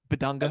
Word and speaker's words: Bidunga: Flory Bidunga. I'm very confused on this kid. Cart, can we talk about it? First of all, am I saying Bidunga correct? Bidunga. That's how I pronounce it.